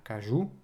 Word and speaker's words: Kaiju: La news suivante, c'est Kaze qui a annoncé la sortie de Keiju Number 8, ou numéro 8, si on prononce en français, c'est Kaju. Kaju numéro 8, ça fait très bizarre, c'est la française.